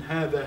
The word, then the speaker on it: هذا: Notice basically that there's an ألف after the ها now, whereas in هذا هذه you pronounce an ألف but you don't write it.